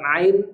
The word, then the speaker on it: ع: Ain dengan pas nah salah satu yang sering terjadi dalam pengucapan huruf Ain adalah dengan cara memasukkan huruf hamzah ke dalam hidung jadi bunyi hamzahnya dimasukkan ke dalam hidung jadi to o bukan tapi Ain ini makhrajnya adalah tengah tenggorokan jadi Ain bukan dari